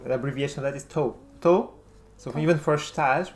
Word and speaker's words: tou: I noticed when you answer the phone with someone, you just say tu. No, not 2. To, To, which is an abbreviation of estou, which means I am.